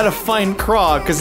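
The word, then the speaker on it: Kraa!: to find Craw, because it's spelt K-R-A-A exclamation mark. The Sea Monster is the name of the movie. It's Craw, the Sea Monster, but it's K-R-A-A, which is not how you think you'd spell the word Craw, which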